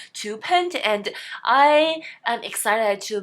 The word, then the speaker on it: Tuppence: the pronunciation of the word, which I thought pronounced as Twopence, actually addressed in the story. It seems like it was pronounced Twopence, and I am excited to meet 2 more